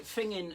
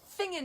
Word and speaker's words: Finzean: because they talk about finging in the rain. Yes. Sorry about that. For those of you who don't live in Scotland, Fingin is the most beautiful village in Aberdeenshire, spelt Finzean and pronounced Fingin.